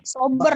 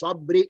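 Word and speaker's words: صبر: Sober ya Pak. Belakangnya juga sober. Kalau kita membaca wa tawasau bis sabri, itu salah.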